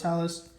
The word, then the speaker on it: Hellas: I was saying Healy's, but someone corrected me and said it was Hellas.